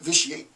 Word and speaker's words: vitiate: type it into an online dictionary that will pronounce the word i hear it vitiate and they tell me what the word vishy